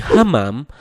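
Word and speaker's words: حمام: Nah, jika bacanya tanpa tekanan yakni hamam, maka artinya merpati. Namun jika dibaca dengan tekanan menjadi hammam, maka artinya kamar mandi.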